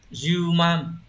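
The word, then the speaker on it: 充満: xung và chữ mãn từ này được đọc là juman từ zuman này cũng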